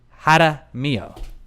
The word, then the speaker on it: Jaramillo: Matthew Haida Mio. Haida Mio. I thought it was Jaramillo, but it's not.